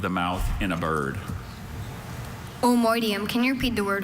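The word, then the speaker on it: omoideum: Omoidium. Can you repeat the word one more time? Omoidium. Omoidium. O-M-O-I-D-I-U-M. Omoidium. Omoidium is spelled O-M-O-I-D-E-U-M.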